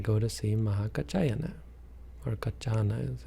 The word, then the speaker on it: Kaccana: Of course, they go to see Mahakaccana, or Kaccana, as it's said. His name is spelled differently in different places.